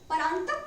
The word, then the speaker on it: परांतक: अहाँ सब सही प्रोनाउंसिएशन देख ले, परांतक पहिलुक।